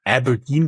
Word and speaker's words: abrdn: Talking about what's next, you exited with Finimize to, it's pronounced Aberdeen, but it's spelled ABRDN, all in non-capital letters.